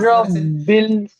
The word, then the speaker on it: رب الفلق: রব্বি নয়, রব্বিল হবে, রব্বিল। একাধিক পরিমাণ শব্দটা বানানটা করে রাব্বিল।